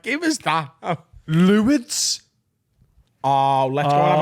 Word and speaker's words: Lourdes: Luids. We call it Yeah. a missionary. It's not Lords.